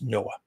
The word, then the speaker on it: NOAA: Uh that's NOAA, which we pronounce Noah.